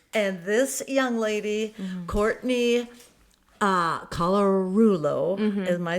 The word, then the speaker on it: Colarullo: And this young lady, Courtney Colarullo, am I saying it right?